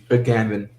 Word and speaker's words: Agamben: Agamben.